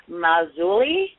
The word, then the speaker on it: Marzulli: Marzulli. I believe I pronounced that correctly. Yes. Marzulli.